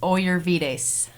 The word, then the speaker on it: Ollervides: what's your last name it's oyer vides I'm not even gonna say that oh yeah V days I like your pronunciation when you emailed me